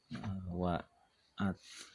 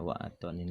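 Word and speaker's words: وعطن: Mak maslahin wa'atnin wa'at dibacanya apa ini ya? Wa'atonin lil ibli. Fi itnin. Mak maslahin wa'atonin wa makbaroh. Wa'atonin aja dibacanya.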